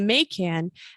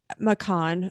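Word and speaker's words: Macan: watching the people in the may can makon i'm sorry and so we were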